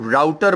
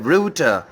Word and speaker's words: router: हम में से बहुत सारे लोग इस वर्ड को और इस डिवाइस को राउटर बोलते हैं, जबकि इस वर्ड की असल प्रोनाउंसिएशन है रूटर और ये वर्ड निकला है रूट यानी कि रास्ते से.